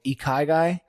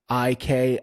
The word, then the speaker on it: ikigai: It's a Japanese name, and I've been made fun of for pronouncing it wrong, but it's called Ikigai, Ikigai.